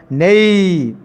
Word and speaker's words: knave: Pronunciation is nei.